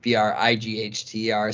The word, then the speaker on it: Breiter: Breiter is spelled Breiter, not like the way it's pronounced, Brighther.